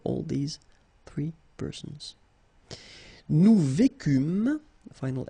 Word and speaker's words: vécûmes: Nous vécûmes, final S not pronounced, vous vécûtes, same thing here, ils vécurent,